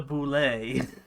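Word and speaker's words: bulette: a bullet so like let's just add a fridge type accent to it and call it a boulay and it is spelled b-u-l-e-t-t-e but it is boule is the way that you're supposed to announce it oh jesus a for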